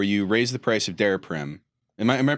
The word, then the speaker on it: Daraprim: came out were you raised the price of daraprim am I am i pronouncing that right yeah you raised the price